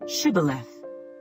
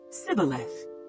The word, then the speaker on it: shibboleth: would say to him then say shibboleth and he would say sibeleth for he could not pronounce it right then they would take